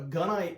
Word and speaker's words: gunite: A gunite pool is, and it's pronounced gunite, like a gun, and they use a